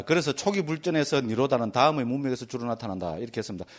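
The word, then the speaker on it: nirodha: D뒤에 뭐 이런데 H 나온 거는 발음 안에 리면 됩니다. 그렇게 니로다 이렇 하면 됩니다.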